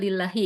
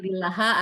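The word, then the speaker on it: لِلَّهِ: majrur majrurnya oleh Li sehingga dibacanya lillahi enggak boleh lillaha atau lillahu nah ini sibh jumlah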